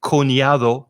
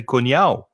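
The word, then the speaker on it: cuñado: cortado they say cortao they don't say koniado they say konyao i hear that many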